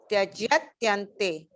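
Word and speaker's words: त्यजत्यन्ते: Tyajatyante. Chant Tyajatyante. Tyajatyante. 5 times. Tyajatyante. Tyajatyante. Tyajatyante.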